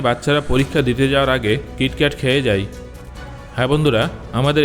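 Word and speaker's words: キットカット: Japan হলো একমাত্র এমন দেশ যেখানে কিটক্যাটের 300 টার থেকেও বেশি ফ্লেভার পাওয়া যায়। জাপানে কিটক্যাটকে কিটো ক্যাটো উচ্চারণ করা হয়। যেটা জাপানের কিটো কারসুর সঙ্গে মিলে যায়।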